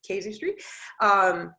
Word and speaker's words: casuistry: It is casuistry.